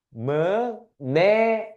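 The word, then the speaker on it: μνεία: 무네이야. 무네이야. 발음하기 어렵죠? 헬라어입니다. 무네이아라고 하는데 말하다라는 단어도 있고 암송하다라는 단어도 있고 기억하다라는 단어가 있어요.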